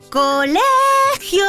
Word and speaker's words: colegio: a ver varios ejemplos colegio colegio la penúltima sílaba es la sílaba tónica por lo que esta palabra es llana más ejemplos de palabras